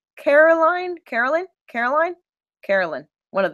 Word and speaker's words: Caroline: who played Caroline Caroline Caroline I want to say it like North Carolina but it's with the e at the end show me images of